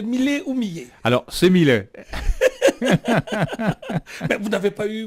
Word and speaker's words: Millet: On m'a souvent posé la question et je répondais, ça se prononce comme pour le peintre, puisque le peintre Jean-François Millet, on prononce bien Millet, effectivement.